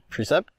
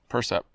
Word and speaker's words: Percept: About the, how do you say that word? The Precept? Percept? Percept? Is it Percept? Sure. Percept. 97.